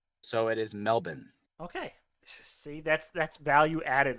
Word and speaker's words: Melbourne: Isn't it Melbourne? It is Melbourne for Americans, but native Australians don't say ours, so it is Melbourne.